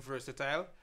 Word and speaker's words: Verzytile: follow you well again I go by the name versatile just spell it correctly v-e-r-z-y-t-i-l-e on any social media